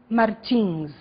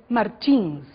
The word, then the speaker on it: Martins: Pay attention to the different pronunciations of the last name Martins. Okay, I am Brazilian. I said Martins. In your CD, we have some American people, and they said Martins.